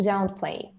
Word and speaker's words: downplay: okay uh now to to downplay yeah the stress on the first to down plane exactly